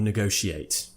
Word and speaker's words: negotiate: Negotiate or negotiate. Now, me personally and most of the public will say negotiate. Negotiate with the sh sound.